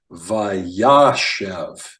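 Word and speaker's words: וַיָּשֶׁב: Okay, so the first word is pronounced Vayashev.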